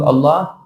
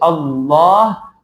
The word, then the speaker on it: Allah: What is the heavy pronunciation? It happens whenever there is a fatha or dhamma before the lam. So when you say Allah, so lam will become la, la.